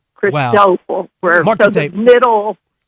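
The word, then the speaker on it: Cristóbal: me to guess what it's called with the pronunciation of it. I believe. Um, yeah, it looks like it's crystal ball.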